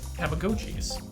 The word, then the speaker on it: Tamagotchi: I think over tamagon Tamagotchis and I will never forget pronounce it Tamagotchi again because it's right there in the name tamago egg egg french yes but a